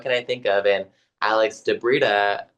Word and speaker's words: Alex di Brita: And Alex de Brita. De Brita rhymes with Fedia.